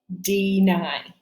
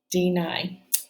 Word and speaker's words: deny: So this is going to be the long I, deny, deny.